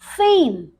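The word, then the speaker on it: fame: Shape, yes, shape, नेम, फेम। यहां पर देखिए, यहां पर हम इस ई को प्रोनाउंस नहीं कर रहे, क्या एसएच से बनता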